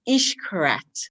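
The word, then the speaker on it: Xcaret: that you go to mexico for x correct pronounced ish correct is the correct pronunciation and it's located in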